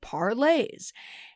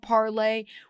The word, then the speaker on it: Parler: confuse matters even more it's meant to take on the all France form of parlay which means to speak or to talk parlay Vu parlay to Parlay but it's just not pronounced that way on the front page